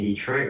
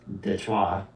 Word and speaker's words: Detroit: Uh, Apparently we're all pronouncing Detroit wrong. Apparently it's supposed to be pronounced Detroit. Detroit.